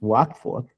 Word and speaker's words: Watford: I live in Watford, which is really strange because it's written Watford. The pronunciation, for some reason, is Watford.